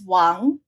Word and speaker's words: Wang: my husband always said Wang so I said Wang and it's spelled with an A and I discovered that if you I say it's Wang which is the correct Mandarin pronunciation people spell it with